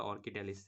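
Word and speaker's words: Orchidales: এখন ইরিডালিস থেকে কিন্তু আরেকটার উৎপত্তি, সেটা হচ্ছে অর্চিডালিস বা অর্কিডালিস। এই যে অর্চি, আমরা বলছি অর্চি, কিন্তু আমরা উচ্চারণ করতে গেলে কিন্তু অর্চি হবে না, হবে হচ্ছে অর্কি।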